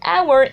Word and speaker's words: hour: For hour and university, it is different, and it is that in hour, the h sound is not pronounced, and in university, the first sound is u.